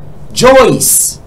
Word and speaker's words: Joyce: For instance, Joyce. Joyce is spelled J-O-Y-C-E. Okay, C-E. Yes, Joyce, C-E. It means the sound is S and it is there.